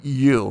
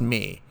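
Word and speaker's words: μ: It's mu, mu, but it's pronounced me. Me, or sometimes I'll say mu or mu too, but it's actually pronounced M-E-E, me.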